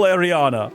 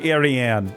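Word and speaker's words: Ariane: Ariana, sorry, Arianne. I just added like an extra syllable to her name.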